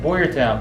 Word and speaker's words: Boyertown: I'm out here in Boyertown. Is that how you say it? Boyertown, Pennsylvania.